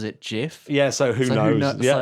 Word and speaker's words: GIF: so yeah but the inventor of the gif pronounces it jiff yeah so who knows yeah exactly the creator